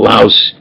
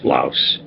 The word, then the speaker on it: louse: Well, louse rhymes with house, louse. Hoover, house, hypocritical louse.